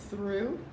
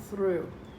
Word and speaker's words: through: the word thought okay now we have the word through now this is very very strange here the oh you has an ah sound here the oh you has an boo sound and we don't hear the gh at all thought and through that's